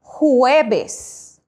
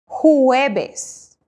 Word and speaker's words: jueves: learn this amazing language the letter J in Spanish is pronounced as H in English that is why for Thursday we say huebes huebes now if the letter